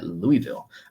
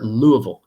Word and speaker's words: Louisville: got Georgia taking on Louisville or Louisville as the locals will call it Louisville I need to say